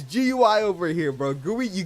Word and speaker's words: GUI: It's It's a GUI, bro. It's GUI. You don't say Guey. Guey is bugs, bro. If you say Guey, you got to go. It's GUI over here, bro.